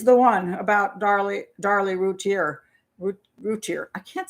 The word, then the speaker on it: Routier: woman's name i want to say routier every time ruthie i want to say oh routier but it's routier i think it should be french but anyway i call